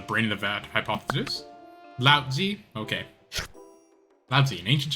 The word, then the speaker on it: Lao Tzu: It's actually pronounced with like a D, but I'm gonna say a T because that's how they spell it.